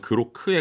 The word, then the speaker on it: Groq: AI 반도체 스타트업인 그록 뭐 그 우리나라 발음으로 약간 뭐 똑같긴 하지만 그로크에 가까울 것 같습니다. Q로 끝나니까.